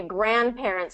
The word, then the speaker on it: grandparents: Grandparents. First syllable stress.